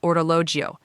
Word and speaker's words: orologio: A watch is an orologio. Now that one can be a little tricky, so let's say it's slow. O-ro-lo-gio. Perfect. A bracelet is a bracciale.